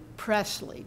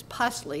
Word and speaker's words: Presley: and the overseer pusley it's actually Presley but the pronunciation in Daisy's family was ply and I like that much better it sort of encapsulates the